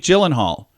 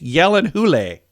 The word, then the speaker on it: Gyllenhaal: favorite is the end Jake Gyllenhaal no it's Jake Yellen who lay yeah what Yellen Jake